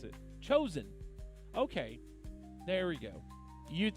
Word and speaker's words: Joseon: Let me see how to pronounce it. Chosen.